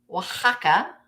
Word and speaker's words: Oaxaca: a Oaxaca Pottery cats it is Oaxaca I like to say